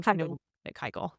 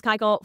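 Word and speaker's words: Keuchel: the Brewers acquiring Dallas how do I say Dallas's last name KY wrong I know you say it right Dallas kyel for $1 from the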